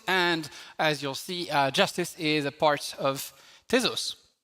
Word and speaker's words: Jstz: So it's written JST pronounced justice and it's called justice for all because we